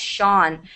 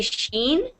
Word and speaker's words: Sean: So this name is pronounced Sean. I hear a lot of students say Sheen. it's not. It's almost like there's a U in there.